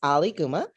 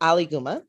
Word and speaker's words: Ali Guma: It's Ali Guma. And the way that I help people to pronounce it correctly is think of Muhammad Ali then Guma. So, Aligguma, I am a first